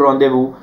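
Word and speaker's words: rendezvous: With the vision of joyful रॉन्देवू upon pure ice and snow, joyful रॉन्देवू मतलब रॉन्देवू is meeting, it इज रॉन्देवू, इसको रॉन्देवू बोला जाता है।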